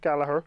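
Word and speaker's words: Gallagher: that comment section below here we go Jack Gallaher I said it right this time in the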